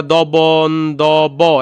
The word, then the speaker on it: দ্বন্দ্ব: তারপর হচ্ছে দ্বন্দ্বের নিচে আমরা দবন দব এমনটা বলি না, আমরা দ্বন্দ্ব বলি।